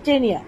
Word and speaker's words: Taenia: এটার উদাহরণ হচ্ছে টেনিয়া, টেনিয়া সোলিয়াম। বানান হচ্ছে TAENIA। এখানে বানানটা একটু অন্যরকম। টেনিয়া বলতে আমরা TENIA বলে থাকি, কিন্তু এখানে একটা মাঝখানে একটা এ হয়েছে, TAENIA, টেনিয়া।